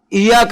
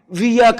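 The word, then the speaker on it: إياك: روایات میں ہے کہ ایک صحابی ایاک نعبد و ایاک نستعین پڑھتا ہے، دوسرا صحابی اپنے قبیلے کے لہجے میں ویاک نعبد و ویاک نستعین پڑھتا ہے کہ اس کے قبیلے کے لوگ عام طور پر الف کو واو سے بدل دیتے ہیں۔ ایک تیسرے قبیلے کا آدمی الف کو ہے سے بدلتا ہے، ہیاک نعبد و ہیاک نستعین۔ یہ ہمارے سلف صالح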